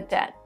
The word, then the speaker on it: debt: we don't pronounce b b is also not pronounced in words like debt plumber and many more how'd you know it